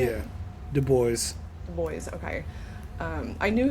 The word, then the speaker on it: Du Bois: because I've read a lot about Dubois or Du Bois. How do you say it? Yeah. Du Bois.